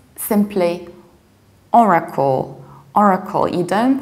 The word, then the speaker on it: Oracle: that Oracle but also you don't pronounce are like ah so you don't see all right but you see Ora Ora Oracle Oracle suits levels are reduced or a call and we pronounce are in both British and American accent Oracle Oracle and now